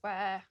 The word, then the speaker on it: where: I've had many days where... As you can hear, Emma uses the long vowel air for the word where.